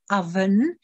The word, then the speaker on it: oven: Tady tohle slovíčko se překvapivě vyslovuje oven a bývám překvapená množstvím učitelů, kterým to nebylo odhaleno.